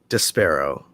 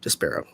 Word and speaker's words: Despero: oh probably not great despairo that's how you pronounce it des pyro despero uh hero cameos and